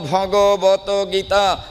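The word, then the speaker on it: ভগবদ্গীতা: উচ্চারণ করে এখনো শ্রীমদ ভাগবত গীতা আপনি যখন ভাগবত গীতা উচ্চারণ করবেন না তখন ওটা 100 ভাগ ভুল হয়ে যায় শ্রীমদ ভাগবত গীতা কখনো হয় না শ্রীমত ভগবত গীতা শ্রী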